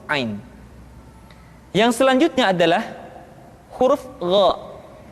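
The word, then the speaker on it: غ: Diucapkan seperti kita mengucapkan huruf Kha, yaitu diucapkan dari pangkal tenggorokan kita. Yang membedakannya adalah Kha mengalir nafas dan Gha tidak mengalir nafas. Dan keduanya memiliki persamaan, yaitu memiliki sifat al-isti'la. Sehingga kedua huruf tersebut ketika diucapkan, suara kita mesti terdengar menebal.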